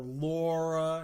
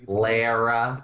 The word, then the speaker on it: Lara: Going Lara or Laura. It's Lara. It's Lara Croft. It's just Lara Croft.